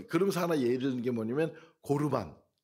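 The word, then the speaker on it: קרבן: 그러면서 하나 예를는게 뭐냐면 고르반 이 여기 11절 말씀에 나오잖아요 고르바 대한 예를 들어요 고르반이라는 말은 원어적 코르반 이렇게 발음을 하는데이 고르만이 뭐냐 하나님께 드려질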